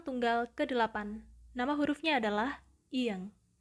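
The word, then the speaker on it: 이응: Konsonan tunggal ke-8, nama hurufnya adalah ieng, ieng. Dan huruf konsonan ini cukup spesial karena dia tidak memiliki bunyi. So there's no sound for this consonant, tetapi teman-teman bisa mengingat nama hurufnya, yaitu ieng, ieng, ieng.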